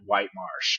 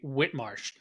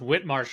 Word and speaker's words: Whitemarsh: came to be a part of Vieira at White Marsh well actually uh this is and I learned this about halfway through myself but it's actually Whit Marsh it's pronounced Whit Marsh Island the is the island where it is